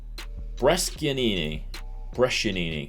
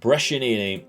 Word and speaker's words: Brescianini: If we put Aramu in there, Brescianini, I think people have been telling me is how you say it, and we will put Piccoli in there as a big target forward.